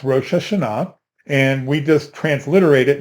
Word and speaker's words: Rosh Hashanah: not this is the Hebrew and and it's pronounced rosha Shah and we just transliterate it and put whatever